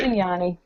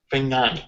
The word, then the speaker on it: Fagnani: last name I want to say it right fani fani excellent I'm Italian as well I assume you